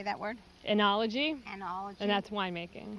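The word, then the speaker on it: oenology: the country how do you say that word anology anology and that's wine making wine how do you spell it oh you don't know oh e e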